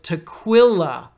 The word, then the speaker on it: tequila: so it looks like tequila but q-u-i in Spanish sounds like key so it's tequila tequila it's almost like k-e-e tequila now tequila comes in